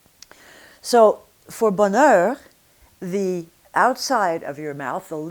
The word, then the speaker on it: bonheur: On the inside of the mouth, the tongue is going to be moving between two sounds, but you're basically going to be the same on the outside, bonheur.